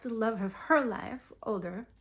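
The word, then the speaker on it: Óðr: And Freya lost the love of her life, Odr, not Odin, but Odr. Well, and technically you're supposed to, I'm pronouncing it incorrectly, you're supposed to roll the R's, Odr.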